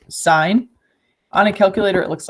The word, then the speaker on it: sine: will talk about so first there's sign it's pronounced sign on a calculator it looks like this then